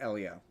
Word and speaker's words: Elio: Pronounced Elio. It's pronounced Elio.